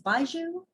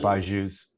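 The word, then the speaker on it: BYJU'S: pronounce it for us we think it's baiju or b yeah buy jews yeah yeah you were right so uh baiju could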